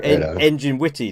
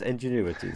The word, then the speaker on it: Ingenuity: So, because a lot of people call you Engine Witty, don't they? But it's Ingenuity. So, yeah. I think I heard Shadows say it correctly.